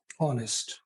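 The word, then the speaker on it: honest: पहले आवर या फिर ऑनेस्ट या फिर ऑनर इन सब में क्या है एच साइलेंट है तो ओ से स्टार्ट होता है अव आवर ए ऑनेस्ट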